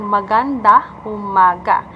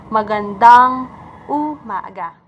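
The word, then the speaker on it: magandang umaga: my gun down so I heard some American saying maganda Umaga it should be McGann dong goo Naga there are two compilers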